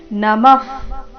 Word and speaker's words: ನಮಃ: ನಮಃ ಪುರಸ್ತ ದತ ಪೃಷ್ಠತಸ್ತೆ ನಮಫ್ ವಿಸರ್ಗದ ಉಚ್ಚಾರಣೆ ಫ ರೀತಿ ನಮಃ ಪುರಸ್ತ ರ ಮೇಲೆ